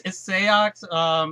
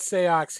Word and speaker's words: Seox: I'm still, is it Seox? I'm still not sure on the pronunciation here. It's Seox. In Japan, he's just simply known as Six.